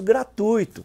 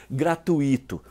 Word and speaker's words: gratuito: alguns pronunciam Nobel e o famoso gratuito sem acento que muita gente erra ao dizer gratuito casos bem típicos são